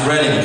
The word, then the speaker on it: Reading: I learned how to pronounce this when I was in Reading, PA. It's Reading, Kathy.